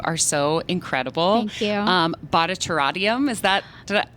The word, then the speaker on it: Bharatanatyam: British pronunciation, Bharatanatyam. Oh, not quite. and then put it back into fast pronunciation. Bharatanatyam. But it sounds like none of those are right. Yeah, so it's Bharatanatyam.